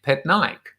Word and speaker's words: Patnaik: right dave pet nike but it is pronounced so i've now phonetically uh written it out just in case i struggle to remember it dave pet nike that'll work maybe i